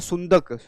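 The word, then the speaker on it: Sundhnúkur: सो इसको बोला जाता है सुनक, इसको बोला जाता है सुंदक.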